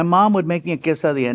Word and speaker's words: quesadilla: So, so we've been saying it wrong cuz we say quesadilla. Well, I'm saying it cuz I'm Mexican and I have an accent.